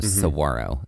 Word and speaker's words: Saguaro: park is known for, there is a G, but that G is silent. It's like a W. It's like a W. Saguaro is how it's pronounced.